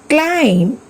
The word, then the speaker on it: climb: Take some other examples like comb, climb, tomb, thumb, lamb. Here also B is silent.